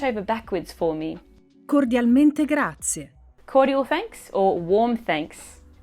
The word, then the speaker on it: grazie: Instead, it is pronounced grazie. The E at the end of grazie is not stressed, and it is not very loud, but it is there.